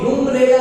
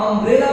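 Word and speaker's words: umbrella: इसको हम यूम्ब्रेला नहीं पढ़ते हैं, इसे हम अम्ब्रेला पढ़ते हैं और अम्ब्रेला यह हिंदी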